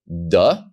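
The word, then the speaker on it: דּ: the second letter and historically you would pronounce the dalit with the dot as da but the letter without the dot you would pronounce the a little bit softer however you go to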